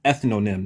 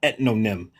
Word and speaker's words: ethnonym: And the word is ethnonym, not ethnonm.